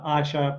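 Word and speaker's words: Asya: asia uh so yeah asha you know i say in russian and everybody tries to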